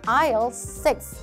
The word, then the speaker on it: aisle: In aisle 6, 6번 통로에 있습니다. 이런 식으로 답변 들어갈 수 있기 때문에 S는 발음하지 않는다라는 거 다시 한번 기억하면 좋겠습니다.